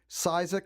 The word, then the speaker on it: Ksiazek: k but it's pronounced Cizek a silent k on it alright well it'll be